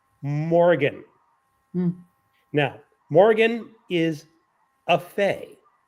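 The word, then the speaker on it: Morrian: spell it out first m o r r i a n the narrator pronounces it Morgan now Morgan is a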